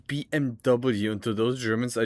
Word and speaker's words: BMW: Like you say BMW and just like yeah it's BMW. Yeah, whatever. Yeah, W is it's English cuz it's three letters, right? And not BM because in German it's BMV.